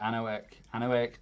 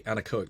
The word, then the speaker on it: anechoic: So I remember I did an open day down at Southampton Solent, and I went in I can never pronounce it correctly, the anechoic chamber. Yeah, anechoic.